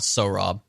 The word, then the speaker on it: Saurabh: It's pronounced Sohrab.